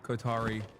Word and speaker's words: Qatar: And Turkey as well, which is also very involved in the Qatari politics. That's how you pronounce it, Shatters? No, it's not. Qatar. Qatar. Don't say it in Arabic.